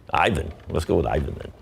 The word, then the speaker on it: Ivan: How do you say it in Bosnia? In Bosnian. Ivan.